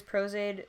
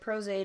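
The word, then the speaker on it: Pros-Aide: I think usually makeup artists who use these, or use Prozaid, they have like a blow dryer and they'll speed up the process of drying that way.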